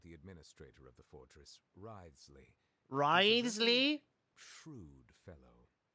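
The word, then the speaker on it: Wriothesley: personal dealings with the administrator of the Fortress ridesley ridesley shrewd risely that's his that's how you say his name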